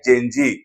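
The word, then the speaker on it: Gen Z: हुआ है वो है जेंजी एक्चुअल में यह जनरेशन जेड लिखा जाता है लेकिन इसको प्रोनाउंस करते हैं जजी शॉर्ट में जेंजी जेंजी का मीनिंग क्या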